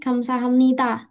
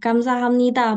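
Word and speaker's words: 감사합니다: Tapi kalau Korea agak sedikit tipis gitu ya. Kayak tadi kamsahamnida. Oke. Bisa ikutin? Jadi bukan da, tapi da. Agak menuju T ya. Da. Dah, gitu. Gamsahamnida, bukan Gamsahamnida. Jadi kalau teman-teman sudah belajar ini, jangan lagi ngomongnya Gamsahamnida, tapi Gamsahamnida. Dah, gitu ya. Jadi nggak sampai T, tapi bukan D-nya Indonesia juga, gitu ya.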